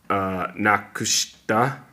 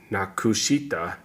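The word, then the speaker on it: 無くした: Nakushta, rather it's nakushita, it's actually pronounced nakushta.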